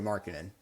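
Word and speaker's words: Markkanen: at trading for uh Markinel. I think that's how you say it from the Jazz. Yeah, Markin. Sorry, not Markinell.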